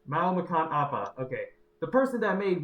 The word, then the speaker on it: Mau Makan Apa: As you just said, the person who made how do you pronounce it again? Mao Makan Appa. Mao Makan Appa.